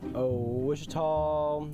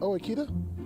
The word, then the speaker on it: Ouachita: I've heard people say Ouachita. Wichita. Achita. Ouachita. Is it pronounced Ouachita?